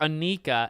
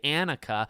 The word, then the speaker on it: Annika: Anika's I see and I always called her Anika and then they say Annika which my wife said well Anna kin Anakin like in Star Wars I'm like oh my